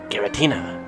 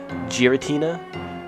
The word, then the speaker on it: Giratina: one whose name was never to be spoken gutina I don't know how you pronounce it properly gutina Giratina that one Gary it is said to lurk